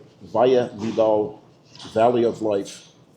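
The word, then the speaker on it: Valle Vidal: We're also in uh what's the name of the valley we're in so it's pronounced correctly? Vaia Vidal Valley of Life.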